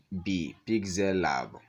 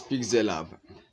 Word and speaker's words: Pixellab: Pixellab is spelled P-I-X Pixel E-L-L-A-B. Pixellab.